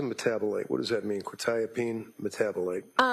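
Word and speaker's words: quetiapine: Probably mispronouncing this. Quietene. Uh quitapene.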